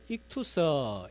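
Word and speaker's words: ΙΧΘΥΣ: 자, 한번 그림을 보여주시면 요즘은 차 뒤에 저걸 많이 붙이고 다니시는데, 자, 저 물고기 안에 있는 글자를 읽으면 익투서 이렇게 발음을 하는데 헬라어로 물고기 하는 단어입니다.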